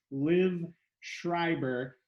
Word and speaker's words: Liv Schreiber: very special guest with me today this is liv schreiber and i'm pronouncing it correctly i think rightly you are